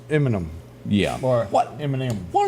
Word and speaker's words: Eminem: It looks like enema when you see it. Let me warn y'all when it's spelled out. You gotta say it a little faster instead of M&M. Yeah, it's enema. It's Eminem.